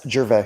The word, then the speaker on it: Gervais: No S, Gervais.